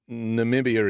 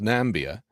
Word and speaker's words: Namibia: should have known that Namibia is not pronounced nambia for a start I